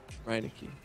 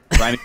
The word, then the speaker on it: Reineke: But, I mean, in their defense, it's not pronounced the way you would say it in German, which is Reineke. And that's okay, because, you know, I live in the U.S. Reineke Patrick.